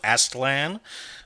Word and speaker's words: Aztlan: books and that is the Source book for astlan um which I've been told by Google is how you pronounce this name I've been pronouncing it incorrectly